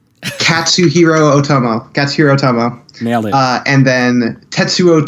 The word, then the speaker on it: Katsuhiro Otomo: Well, the two films I brought today are Akira, the 1988 film by, I can never pronounce his name right, Katsuhiro Otomo.